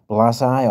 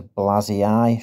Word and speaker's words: blasii: The hybrid form is known as Triturus blasi or blasii. There's a double I, so to me that is blasii, should be the correct pronunciation.